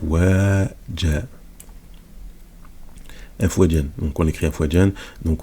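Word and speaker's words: أفواجا: Dinillahi afwaja ou afwajan. Bon, ça s'écrit afwajan, mais on le lit afwaja parce qu'on s'arrête.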